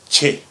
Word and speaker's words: ch: And the last letter we have, another diphthong, would be the letter ch. Ch. Like the CH sound in the English words cheese or check or cheetah.